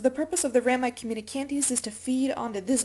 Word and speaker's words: communicantes: for you Rami communicantes just like communication but it sounds like something out of the old west communicantes all right so the purpose of the ram communicantes is to feed onto